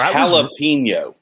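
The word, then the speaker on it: jalapeño: jalapeno yeah you say which is it it's jalapeno i was recording the audio of this but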